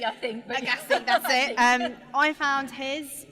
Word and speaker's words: Agassi: Agassi, I think. Agassi, that's it.